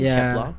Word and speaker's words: Kep1er: became the nine members of kepler the name kepler pronounced my friend actually which was also watched girls